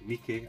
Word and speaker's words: Miike: of takes you make that is pronounced Mickey as I found out for normal Heroes and